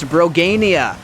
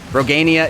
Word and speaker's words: Brogania: All right, I've got a message in Twitch chat from Big Daddy Brogan, who says it's pronounced Brogania. So we will go with that pronunciation.